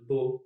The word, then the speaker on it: beaux: Beau, comme de beaux châteaux. Here, E, A, and U all together just make an O sound, and the X is completely silent. Beau, beau, de beaux châteaux.